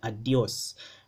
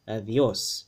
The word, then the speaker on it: adiós: interdental fricative sound right but in philippine spanish it makes a hard d sound so a lot of people would like to say this as a adios right and in standard spanish it's avios right adios don't forget the accents right the accents are where the stress lies with the stress accent